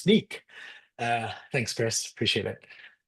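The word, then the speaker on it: Snyk: Any questions about these sorts of it's pronounced sneak.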